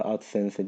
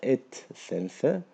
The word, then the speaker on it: AdSense: Adsense arkadaşlar doğrusu yani biz okunduğu gibi bazen ağız alışkanlığı at sense diye devam ediyoruz ama yanlış bilgi de vermeyelim burada et sense diye okunuyor.